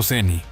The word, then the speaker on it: Cieni: Cieni pronunciado Seni.